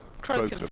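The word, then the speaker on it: Crocombe: Is it Croken? Croken. Thank you.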